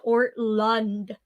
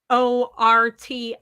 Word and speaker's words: Ortlund: little crab crawl over to my bookshelf, but it is called Gentle and Lowly by Dane Ortlund. I pronounced his name wrong the first time. So it is spelled Ortlund.